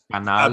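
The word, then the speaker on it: Canal+: Yeah, it sounds like the word channel in Spanish. Yeah, Canal.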